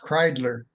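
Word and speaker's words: Kreidler: out that the that my ancestors came from Germany so it's pronounced kler um but they came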